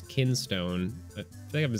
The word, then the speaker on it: Kinstone: holding your Keystone pieces I keep wanting to say like King's Stone but it's kinstone I think I've been